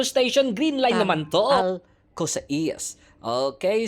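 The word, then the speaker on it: Al Qusais: Al Cosa Eas. Okay. So pag pronounce siya ng metro sa parang Alkosish. Ayan ko na alam basta sa ganon. Alkos. O 'yun na lang para maintindihan natin.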